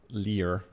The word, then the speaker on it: lyre: brand new liar um I hope it's pronounced liar actually otherwise you're going to call me a liar but um it's l y r e so I suppose it's liar or or Lear I'll call liar the history of the